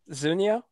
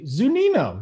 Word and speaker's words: Zunino: i don't remember his name who is it zunio am i close you're you're close i mean it starts zunino yeah all right there we go yeah i